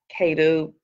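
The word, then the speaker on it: Caddo: but i'm gonna answer the question is the cato people and i may be pronouncing it incorrect because c-a-d-d-o is the k-2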